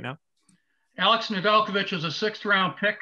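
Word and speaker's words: Nedeljkovic: to him hey alex how do you say your name please and he told me nedelkovich first thing i i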